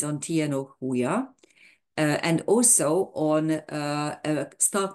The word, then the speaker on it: Huya: So you have a J in the front, but of course in Spanish, when you have a J at the beginning of a word, you have to pronounce it H.